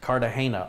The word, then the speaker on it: Cartagena: And Dixie Champagne says it's pronounced Cartagena. Oh, Cartagena, I should have known that.